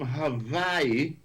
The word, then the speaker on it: Hawaii: All the way from Hawaii. That's the way you pronounce it. Just like how Haiti is Haiti, Hawaii is Hawaii.